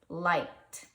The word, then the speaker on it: liked: So this word is liked. And you hear that T at the end?